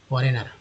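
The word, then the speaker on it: foreigner: दोस्तों फॉरेनर में जो GN है, ये GN जो साइलेंट लेटर वाले जो वर्ड है, ठीक है, एक्चुअली ये लेटर है GN, इसमें जी का कोई भी इम्पोर्टेंस नहीं है, एन का ही उच्चारण होता है।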